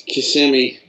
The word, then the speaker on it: Kissimmee: How do you pronounce it? Kissimmee? It's Kissimmee.